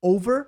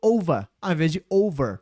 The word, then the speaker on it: over: Por exemplo, over rima com dólar. Mas pera aí, dólar termina com are e esse aqui é er. Mas sim, os dois a gente fala no final, tá? E se a pessoa fala com um ros puxado, né, sem muito acaba ficando como ela falou, ficou overz.